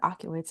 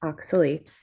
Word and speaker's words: oxalates: Well, it has oculates in it. Am I saying it right? Is it oculates? It's ox with an ox. Oxuitates. Oxalates.